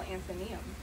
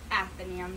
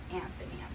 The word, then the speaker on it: Athenaeum: Sounds easy, but how are you supposed to remember how to spell Athenaeum? Well, it's really not that hard. Just write Athena and then the E-U-M. By the way, it's pronounced Athenaeum, not Athenaeum.